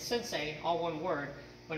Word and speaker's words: sensei: word and it's sit say but it's actually pronounced like it's sensei all one word but it's pronounced like sin